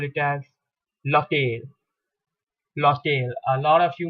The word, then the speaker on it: l'hôtel: Why am I not pronouncing it? So that is the rule in French language. If you have an ush after the L apostrophe, you do not pronounce it. Or in general, you do not pronounce the H or the ush.